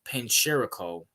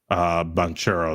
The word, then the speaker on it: Banchero: We have Paolo Pancherico. Am I saying that right? Banchero, I think is how you say it.